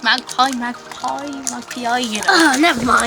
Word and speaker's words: MagPi: we got this magazine yes from magpie uh pronounced magpie magpie my p.i.g oh nevermind whatever one wait